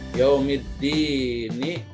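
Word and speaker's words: يوم الدين: Contoh, yaumiddini dibacanya yaumiddin, jadi nunnya di sukun.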